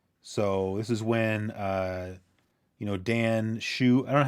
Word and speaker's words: Hsu: So this is when Dan Shu. I don't know how you pronounce his last name. HSU. Yeah, I think it's Shoe. Yeah. I mean, So it's Dan yeah, Shu because it says Shu.